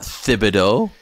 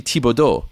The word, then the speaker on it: Thibodeau: right oh great example it's not Thibodeaux what the hell and when did we go from Thibodaux to Thibodeau I'd like to know people people go right back and forth a broadcast and they're saying his name two different ways which is it I'd love for someone to ask him and he'll probably say some variation of Thibodeau or but it's actually tibodo which which I I'm